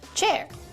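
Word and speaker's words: Qier: Hi, I'm Chairwang, spelled Q I E R, pronounced chair.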